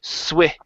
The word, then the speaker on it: switch: Okay, so give me a good S at the very beginning as well as a short I sound. Switch.